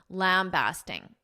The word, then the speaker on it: lambasting: Now, first, I'll note that there are two alternative pronunciations, bast or based. Basting or basting. The one I use, basting, lambasting, is the more common, but you may also hear in American pronunciation basting, lambasting, lambasting, lambasting. I recommend lambasting because it is more common.